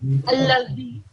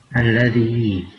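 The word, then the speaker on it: الذي: So just for example, when you said allazi, you said z. Allazi. Yeah? Alladhi. Good.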